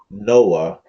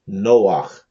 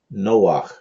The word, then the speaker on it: Noach: the allegorical caricature of Noah, or properly pronounced Noach, Noach.